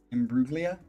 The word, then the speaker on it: Imbruglia: would make sense a little more uh embruglia Imbruglia oh that's how you say it in brutally